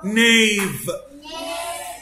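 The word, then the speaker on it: knee: حرف الكي لتر كي لو جه بعده ان يبقى الكي سايلنت اهو. نو، نيف، نايف، ناك، ني، نابساك، نت، نوت. كل الكي سايلنت عشان بعدها ان.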